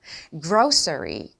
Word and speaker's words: grocery: grocery. 그러니까, 이 발음과 surry까지 끝까지 신경을 써주셔야 된다는 거예요.